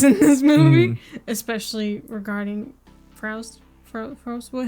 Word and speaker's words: Faust: I lost a lot of context in this movie, especially regarding Faust. Faust. What? How do you pronounce it? Faust. Faust.